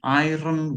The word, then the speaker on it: iron: Number one, an iron will. R is silent. An iron will.